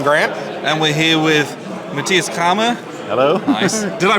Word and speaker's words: Matthias Cramer: Alexander and I'm Grant and we're here with Matias kmer hello nice did I pronounce it right yes very good so he